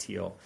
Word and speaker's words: Thiel: making fun of peter thiel who is the co-founder and former ceo of paypal billionaire a lot of your audience probably knows who he is his name's spelled t-h-i-e-l but it's pronounced teal and there's no evidence